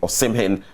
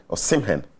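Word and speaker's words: Osimhen: napoli defender and teammate or simhin uh condemned racist abuse suffered at fiorentina or simhan i should say i nearly i pronounced it like a ghanaian name are you done with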